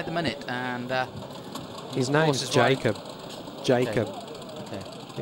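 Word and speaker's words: Jakub: In Australia, we call him Jacob. Right, okay. In America, you'd call him Jacob. Pronounce the J. It's a J. Okay. Jakob. Okay, we're not in those countries at the moment, so we'll go with Jakob.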